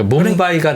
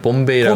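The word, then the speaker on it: मुंबई: 그 뭄바이가 나중에 만들어진 이름입니까? 그렇습니다. 그럼 식민지 시대 때는 봄베이라고 봄베이. 불러요. 영국식이에요, 그게? 맞습니다. 아. 인도 말로는 뭄바이. 예, 그렇습니다.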